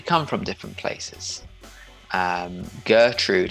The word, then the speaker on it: Gertrude: from different places um gertrude in english is probably not pronounced the same way that it would be if it was pronounced in german it would be like gertrude something like that german is our way